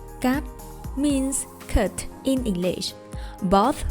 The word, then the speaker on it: cắt: But in Vietnamese, you do not emphasize the last letter T sound. Cắt. One more time. Cắt.